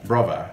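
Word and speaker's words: bruvva: Brova.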